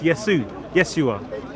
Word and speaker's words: Yeshua: And then we see later on, it was shortened to Yod Shin, Wav Ain, pronounced Yeshua.